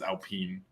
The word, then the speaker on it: Alpine: watch a video of a french guy saying how to pronounce alpine by right now and it is alpine okay so okay i